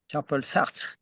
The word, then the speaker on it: Jean-Paul Sartre: How do you pronounce it? Jean-Paul Sartre? How do you Jean-Paul Sartre.